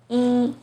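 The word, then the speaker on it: 一: falling tone in buhao e as in number one is pronounced as ee but in yang it becomes the second tone in ichi is the fourth tone seems very confusing right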